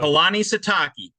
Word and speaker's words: Kalani Sitake: First thing, I'm going to give you a bonus point if you can pronounce the coach's name. That's always the first challenge with the BYU coach. Kalani Sitake.